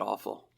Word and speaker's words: offal: There's a reason they call it awful. It's not how it's spelled. I know, but it's the way it's said, and it works.